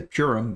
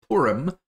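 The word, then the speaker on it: Purim: the way that's how that is how it's pronounced I know it's hard to not say purum but it's porum doesn't matter uh just a note um porum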